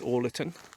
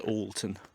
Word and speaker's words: Orleton: My first guess was Orleton, and I was politely corrected. I was told, nope, usually locally it's pronounced Alton.